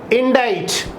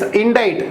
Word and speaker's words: indict: Indict, cite. It's indict, not indict. It's indict. Pronunciation, be careful here.